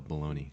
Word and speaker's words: bologna: I have no clue how to spell baloney. Oh, Bologna. Bologna, right? yeah. Because it's just like gabagool. It sounds nothing like how it's spelled.